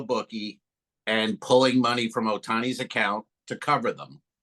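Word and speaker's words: Ohtani: The player for the Dodgers, how do you pronounce his name? Otani. Otani.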